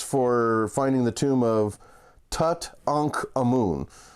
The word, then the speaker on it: Tutankhamun: finding the tomb of Tut ankh a moon nothing irritates me more than hearing Tutankhamun knowing the proper pronunciation Tut ankh a moon uh so that was